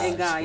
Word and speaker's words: Ngai: Ngai, yes. Ngai. That's how we are supposed to say it.